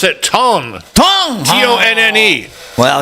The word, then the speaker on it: Tonne: I love that you even pronounce it Tonne.